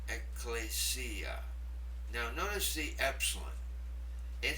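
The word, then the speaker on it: ἐκκλησία: Let me pronounce it. Ecclesia. Ecclesia.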